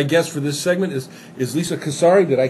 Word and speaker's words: Casarez: My guest for this segment is Lisa Casarez. Did I pronounce that you right?